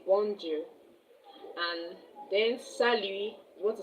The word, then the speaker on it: salut: Salut is s a l u t. The t is silent.